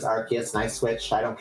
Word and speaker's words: Arceus: I called it Arceus for like 15 years before I learned that it was Arceus, and I switched.